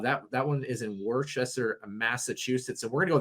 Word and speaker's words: Worcester: that one is in worcester massachusetts so we're gonna go the opposite direction so i'm gonna apparently it's pronounced wooster if you're from the northeast wooster worcestershire worst destroyer yeah